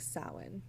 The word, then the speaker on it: Samhain: and the origin of the word is it's pronounced sin so sin is celebrated in the northern hemisphere on the